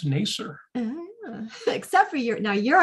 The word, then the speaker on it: Nasir: hope i'm saying vanguard properly um but yes nacer is the correct pronunciation it's funny i think yarn says pronunciation